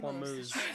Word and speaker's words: Hormuz: So in regards to specifically the Strait of Vermouth, right? How do you say it? Hormuz.